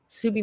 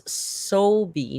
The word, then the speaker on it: Sobi: Subi member for 4 months says it's Sobi, not Subi. After I said it wrong.